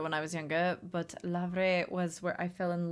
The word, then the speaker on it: Le Havre: Lavre. This would be Lavre? What? How is it Le Havre? Because this should go away and the H is silent. Lavre?